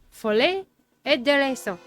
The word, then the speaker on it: Folie et Déraison: This is pronounced Folie et Déraison. Folie et Déraison. Now, the R, I really super can't do.